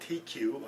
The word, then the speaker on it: Teku: The glasses are called TQ, or I could be pronouncing wrong.